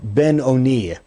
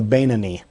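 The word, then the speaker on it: beinoni: one known as the the Ben O'Neill or sometimes pronounced the banani the one who is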